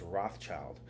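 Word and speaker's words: Rothschild: going as far as changing his own name to red shield today we pronounce that name as Rothchild a well-known family in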